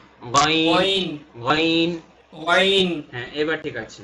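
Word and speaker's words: غين: এটা wine, Gyne, Gyne. Wine. শুধু প্রথমে গ যখন বলবো সেই গ অংশটুকু গলার ভেতর যাবে, এর পরের অংশটুকু গলার ভেতর যাবে না। গাইন, ওয়াইন, গাইন।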